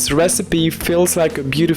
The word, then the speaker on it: recipe: c'est c'est recipp disaster pour retenir cette prononciation dites-vous qu'elle rime avec melody and legacy exle recipes Melody ears cool Legacy